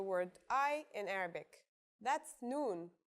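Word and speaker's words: نون: I in Arabic that's noon the noon is pronounced just like the English n pretty easy right it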